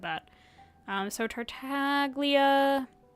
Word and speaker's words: Tartaglia: But I think Tortalia is technically how it's supposed to be pronounced. That's why I said that. Um, so Tartaglia.